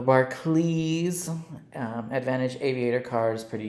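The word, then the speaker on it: Barclays: let's see right here Aviator Barkley CLE even though it's spelled Clays The Bar CLE um Advantage Aviator cards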